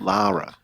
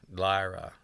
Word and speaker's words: Lara: The Laura Croft uh and and stuff. Lara Lara.